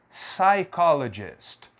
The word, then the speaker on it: psychologist: pronunciar a letra P então aqui não é psychologist não aqui é apenas P psychologist uma outra palavra aqui